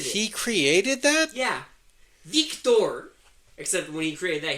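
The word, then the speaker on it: Viktor: Our director, who in this movie, Victor, and you have to say it like that because it's spelled with a K, not a C.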